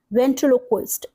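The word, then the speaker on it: ventriloquist: Next word is वेंट्रलोक्वस्ट। देखिए यहां पे थ्री पार्ट सिलेबल्स में कर दीजिए वेंट्रुलो host that is very simple way to pronounce और स्पेल द वर्ड तो ये किससे बना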